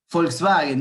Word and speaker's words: Volkswagen: Ahora, si se fijan, Volkswagen, me dice alguien, perfecto. En alemán, por ejemplo, la B corta se pronuncia F y la W se pronuncia B corta.